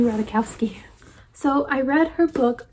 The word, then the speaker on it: Ratajkowski: be i read emily ratakowski saw how you say it okay i looked it up i was right emily radakowski so i read her